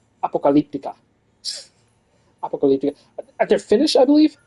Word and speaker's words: Apocalyptica: as they will tell you it is properly pronounced Apocalyptica at their finish I believe it was a